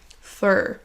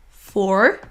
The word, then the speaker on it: for: Fur. Vous voyez ici la différence. For, la forme forte, et fur, fur. C'est un petit peu comme la dernière syllabe du mot coiffeur en français.